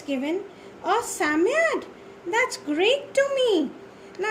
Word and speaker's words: Psammead: Okay, and definitely it was none other than Psammead.